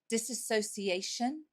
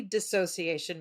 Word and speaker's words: dissociation: what we're here to talk about is called disassociation made simple Yes technically dissociation made simple but what you just said is a common mispronunciation misconception of the word a lot of people call it disassociation and I like to say it's not all